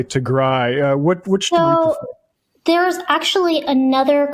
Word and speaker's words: Tigray: then I watched some particularly British speakers say Tigry. What which there's actually another kind of smaller ethnic group within northern Aritria called Tigra. And it's a completely different people. Tigry is how we pronounce it.